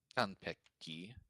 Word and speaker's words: 完璧: 璧で嘘つきな君は Is that Kanbeki or Cottonbeki? 完璧。 Oh, is it Peki? Let me check. Pecky, like perfect. Oh, Konpeki. Kanpeki. 3 syllables. Yes.